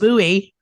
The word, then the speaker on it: buoy: buoy. It is. It's spelled, I pronounce it buoy, but my British friends are always correcting me. They're like, what does a buoy do? What is a buoy?